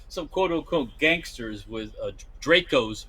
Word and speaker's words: Draco: Yeah, I mean, I have seen some quote unquote gangsters with Dracos or Draco, like it should be pronounced, in their pants, but you can't hide it.